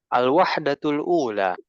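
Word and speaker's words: الوحدة الأولى: Al-wahdatu al-ula. Wahdatu al-ula. Sekali lagi. Al-wahdatu al-ula. Al-wahdatu al-ula. Ustaz, ini nggak bisa disambung bacanya, Ustaz. Bisa. Kita kalau sambung begini jadinya. Al-wahdatul ula.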